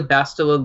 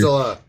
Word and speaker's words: Bastila: I mean, he's more useful in other aspects of the game than just an Bastia, however you pronounce her. Bastila. For Arena. BS. You have to pronounce it correctly. It's Bastia. Bastia.